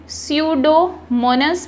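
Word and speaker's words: Pseudomonas: Rest of the nitrate, जबकि जो बाकी नाइट्रेट है इन द सॉइल, सॉइल में are converted bye, P silent रखना है, स्यूडोमोनस बैक्टीरिया, इनको एब्जॉर्ब कर लेंगे, सोख लेंगे इनटू नाइट्रोजन गैस और इन्हें बदल देंगे नाइट्रोजन गैस में।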